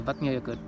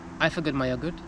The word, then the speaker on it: Eyjafjallajökull: By the way, if you pronounce the English phrase "I forgot my yogurt," you get pretty close to muddled pronunciation of this volcano's name. I forgot my yogurt, Eyjafjallajökull.